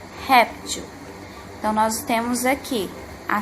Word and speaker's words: réptil: intensidade com mais força temos aqui a palavra réptil réptil observe que falamos a primeira sílaba certo com mais intensidade réptil então nós temos aqui